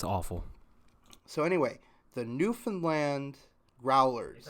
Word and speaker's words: Newfoundland: So it is Newfoundland.